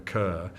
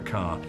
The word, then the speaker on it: Kerr: to pronounce her name they all called her kerr and and so the studio publicity said deborah carr it rhymes with star that put it in